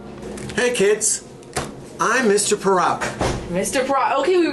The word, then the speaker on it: Parauka: I pronounce it Parauka. Parauka. But my brother pronounces it Parauka. Parauka. And I don't like that. My father said Parauka, so it's Parauka.